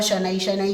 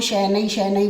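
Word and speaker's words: शनैः शनैः: कुछ बच्चे इसको शैनै शैनै बोलते हैं, उच्चारण पे भी ध्यान रखना है, शनै शनै।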